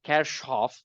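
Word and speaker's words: Kirchhoff: ch's current law right kirchof or kirkov or kof which is the actual German pronunciation of that name came up with two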